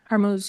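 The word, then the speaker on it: Hormuz: Is it Hermuz? Hermuz, yeah.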